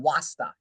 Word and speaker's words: wasta: See, she didn't really understand why, but let me just tell you, in the Arab world, there's a concept called wasta. Rhymes with Rasta, as in Rastafarianism, right?